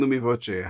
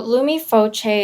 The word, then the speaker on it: Lumi Voce: give uh the url for people to find lumi voce uh just spell it out because uh people are listening yeah of course so lumifoche is actually italian meanings illuminating with sound direct